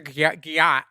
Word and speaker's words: gyat: It means like they want to get your gyat.